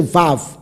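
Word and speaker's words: וָו: 这个时候就是 v，而不是 u，乃是 vav。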